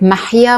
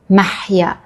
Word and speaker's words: Maha: Like it's so challenging to pronounce or ha like maha. My name in Arabic is ma maha. But it's written the exact same way in Persian. But it's mah.